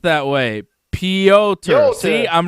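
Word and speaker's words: Pyotr: and russian is pronounced yo which is why piotr is pronounced that way piotr see i'm right wow leor s who's a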